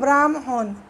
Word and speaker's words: ব্রাহ্মণ: যেমন মনে করো ব্রাহ্মণ, এটা উচ্চারণে ব্রাহ্মণ, ম যুগ হ আসছে উচ্চারণে, কিন্তু বানানে কিন্তু হ যুগ ম, ওইটা লেখারও একটা আছে,